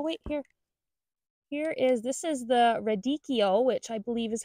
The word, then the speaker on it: radicchio: This is the radicchio, which I believe is how it's properly pronounced.